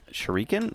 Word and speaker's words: shuriken: shuriken? I don't know. Fuck, it's a throwing dart. It's pronounced shuriken.